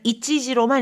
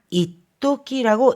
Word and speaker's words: 一時: 이 한때라고 할 때는 이치지로만 읽습니다. 하지만 若い頃は一時も休まず働いたもんだ。 젊었을 때는 잠시도 쉬지 않고 일하곤 했지. 잠시도 이럴 때는 이치지가 아니라 이토끼라고 읽는다는 거 꼭 기억해 두시기 바랍니다.